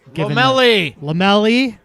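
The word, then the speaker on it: Lomelí: And I think we saw, 4-3-3, particularly Ronaldo Lomelai at right back being given Lomelli. It's on the pronunciation guide.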